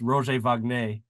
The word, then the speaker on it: Roger Wagner: And of course, he preferred his name pronounced Roger Wagner because he was his dad was French, and he actually fought, I think, in the French army during one of the world wars.